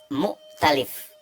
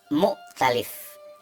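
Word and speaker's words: مؤتلف: Satu contoh lain, misalkan saya ingin mengucapkan kata mu'talif, ya ini hamzahnya ada sukun ya, mu'talif, mu'talif. Tapi kemudian saya membacanya atau mengucapkannya dengan mukhtalif. Hamzah saya ganti menjadi kha, mukhtalif, mukhtalif. Yang ini mu'talif, ini mukhtalif. Itu pun artinya sangat bertolak belakang ya.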